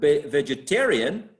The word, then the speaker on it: vegetarian: vegetable right vegetable and vegetable is stressed on the vegetable on the first exactly the first the first syllable exactly but vegetarian vegetarian is not in the third syllable exactly exactly so there's